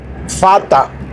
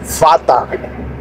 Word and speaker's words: Vater: Se dice Vater, pero se escribe B con B chica, con V. Se escribe como en español se leería Vater. Vater se escribe, se leería, se los voy a deletrear. Sería V A T E R. Fata. Pero se leería en español Vater. Y en alemán Fata.